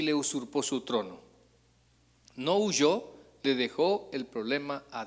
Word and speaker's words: huyó: Eh, yo creo que va con eh acento en la última o en la o para no para decir no huyo. Sino que no huyó.